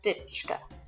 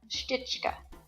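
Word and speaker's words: Štička: ancestor probably spoke with, the sh sound at the beginning got dropped. So you didn't end up with S-H-T-I-C-H-K-A. It just was Stička. And when I saw that, then all of a sudden there's all kinds of people over there with the name Stička. So it turns out that my ancestor's name wasn't Stička, it was Stička.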